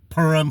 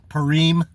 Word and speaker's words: Purim: the first day of the Feast of purum or P purum if you want however you want to pronounce it I say perum some people say Pim um I just make it simple p u r i m perum um so on purum